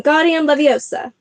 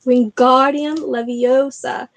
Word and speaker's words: Wingardium Leviosa: much more luck when guardian Leviosa he shouted waving his long arms like a windmill you're saying it wrong Harry Hermione snapped its Wingardium Leviosa make the guard nice and long you do it then